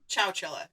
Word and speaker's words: Chowchilla: Did I pronounce it right that time? Chowchilla.